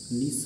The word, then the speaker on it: niche: रहे हैं आज तक, लेकिन वो अमेरिकन में निच है। ब्रिटिश वालों का अपना अलग स्वैग है, वो CH को सा बोल देते हैं, उन्होंने इसको नीच कह दिया। हम लोग नीचे पे थे, वो लोग उसको निच बोल रहे हैं, और ब्रिटिश वाले उसको नीस बोल रहे हैं। तो बिल्कुल अलग, हमारा तो किसी एंगल से सही नहीं है। अगर अमेरिकन बोलनी है तो निच कहिए, ब्रिटिश बोलना है तो नीस कहिए।